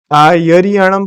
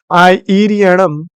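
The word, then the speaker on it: आइरियाणं: बहुत आयत में यहां पर एक चूक हो जाती है कि लोग आयरियाणम बोलते हैं। इ के स्थान पर य का उच्चारण करते हैं। इसलिए सावधान रहिएगा। आय इरियणम यही इसका सही लेखन और उच्चारण होना चाहिए।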